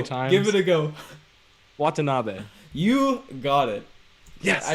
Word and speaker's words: Watanabe: wrong so many times give it a go watanabe you got it yeah i don't even need